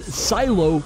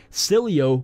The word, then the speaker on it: Sileo: bit late but a new city alternative called silo it's actually pronounced salut I'm just kidding school start confirmed that it's actually silly oh I know kind of a silly name but